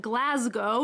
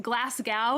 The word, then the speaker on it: Glasgow: of basic millennial aesthetic the next one is glasgow not glasgow as americans like me might want to say